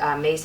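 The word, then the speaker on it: Myss: She's a medical intuitive, and Mace is spelled M-Y-S-S.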